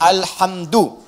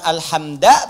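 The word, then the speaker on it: الحمدُ: Dibacaannya alhamdu, bukan alhamda pakai fathah atau alhamdi pakai kasrah.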